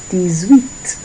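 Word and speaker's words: dix-huit: so we have 18 and this is dsweet dsweet in French. Dweet dsweet is 18. So two syllables this time.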